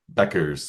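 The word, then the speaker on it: Bueckers: uh P Paige buckers uh and and beers Beckers yes Beckers uh but she's known as pagee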